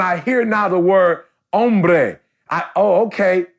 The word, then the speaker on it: hombre: hear now the word hombre oh okay the H is silent I get it OMB er I got it I